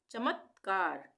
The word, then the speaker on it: चमत्कार: विस्मय विस्मय विस्मय चमत्कार यहां पे आधे त का प्रयोग हो रहा है यानी कि आधा उच्चारण हो रहा है त का चमत्कार चमत्कार विचाराधीन विचाराधीन इसको हम दो भागों में कर सकते हैं।